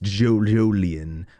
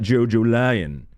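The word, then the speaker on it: Jolyne: yes I am sure that that is pronounced Jo jolian I'm positive without even having it explained to me that it is Jo jolian and not jojol lion and if you did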